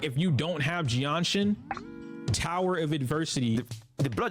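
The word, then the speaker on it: Jianxin: Jianshin, guys. It's pronounced Jianshin.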